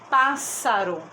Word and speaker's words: pássaro: ao que ao lado a palavra pássaro gente olha que eu falo com mais força essa aqui olha pássaro e aqui recebe então acento agudo porque tem esse som aberto a sua direcionar um